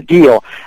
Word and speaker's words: Gio: Okay, the pronunciation is Gio.